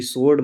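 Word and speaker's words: sword: एस डब्ल्यू ओ आर डी, सोर्ड मतलब होता है तलवार।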